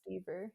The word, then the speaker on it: Deaver: CamerDever, like Dever, but it's pronounced Deaver.